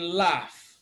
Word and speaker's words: laugh: that is represented by the letters GH in laugh the sound V is represented by V in